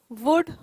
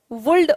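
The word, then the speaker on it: would: अभी तक हमने देखा कि देखिए, कुड, वुड, शुड, ये तीनों मॉडल्स हैं, ठीक है. कुल्ड वुल्ड और शुल्ड नहीं बोलते हैं, इसे ध्यान रखें ये, ठीक है। इसका प्रोनाउंसिएशन जो है एल साइलेंट है, इन तीनों शब्दों में एल साइलेंट है, पहली बात।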